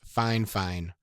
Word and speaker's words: Fifine: Okay, I know that their name looks like Fifine or Fifine, but in my correspondence back and forth with them about their microphones, they assured me the pronunciation is Fine, so don't give me